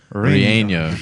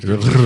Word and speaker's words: relleno: It's like a Y sound, isn't it?